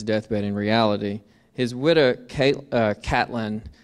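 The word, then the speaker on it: Caitlin: His widow, Catlin, as she pronounced it, C-A-I-T-L-I-N, Catlin, candidly recounted her husband's dying of downfall.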